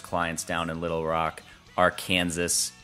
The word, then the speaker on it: Arkansas: down in Little Rock Arkansas or Arkansas if you want to say it properly we met a few